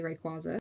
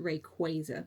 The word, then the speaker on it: Rayquaza: So, I I say Rayquaza and a lot of the community do, but it's actually pronounced Rayquaza.